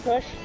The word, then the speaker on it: Khush: Okay, so today I'm with, is it pronounced Khush? Khush. And where are you from, Khush?